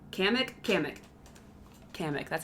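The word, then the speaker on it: Kamek: Kamik. Kamik. Kamik. That's how it's pronounced.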